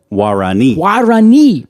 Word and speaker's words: Guarani: So this plant was initially found by the Guarani people. You see the accent is on the last I I do.